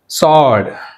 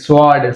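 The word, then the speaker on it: sword: సాడ్, సాడ్ అంతేగాని స్వాడ్, స్వాడ్ అంటాం మనం, స్వాడ్ అనేది రాంగ్, సాడ్.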